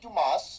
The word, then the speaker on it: Dumas: matt hardy and amy dumas or lita they work together the s is silent oh my god that